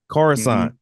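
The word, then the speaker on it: Coruscant: Yeah, I would have done something like um forgive me if you if I'm pronouncing it wrong, but um Carusent Corissant. Corusant.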